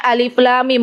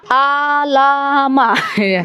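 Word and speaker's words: الم: satu huruf ibu-ibu ini dibacanya Alif Lam Mim bukan alamah kalau yang belum belajar Tahsin dibacanya apa alamat padahal bukan alamat Apa bacanya Alif Lam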